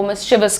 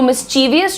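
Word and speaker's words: mischievous: तो मिस सही है, ची सही है। बट तुमने ये वीएस कैसे बना दिया? मिसचीवियस क्या होता है? What is what is मिसवियस? शरारती नटखट शैतान बच्चों को लोगों को मिसिविस कहा जाता है। तो मिसवियस छोड़िए मिसवस मिसवस ओ ही इज़ प्रीटी मिसवियस यार।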